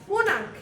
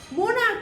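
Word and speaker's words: monarch: করে এস ড করব এরকম আরেকটা ওয়ার্ড হচ্ছে মোনারক এম ও এন এ আর সিচ মোনারক ওয়ার্ডের লাস্টে সি এইচ এর উচ্চারণ হচ্ছে ক এর মত তাই মোনার্ক হোক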